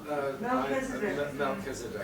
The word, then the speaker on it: Melchizedek: How do you pronounce that, Mark? Melchizedek.